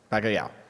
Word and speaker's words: Bacalhau: Bacalhau.